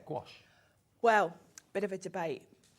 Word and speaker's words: gouache: of a debate actually I always say gash gach gouache I've watched loads of YouTube videos and I've decided gouache is the most common pronunciation but I don't think there is a right or a wrong way to be perfectly honest